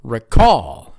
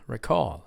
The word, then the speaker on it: recall: can also pronounce it recall recall right a recall is a noun spelled the same way but you stress the first syllable as the verb whenever